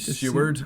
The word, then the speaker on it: Seward: Seward, I believe, is how it's pronounced.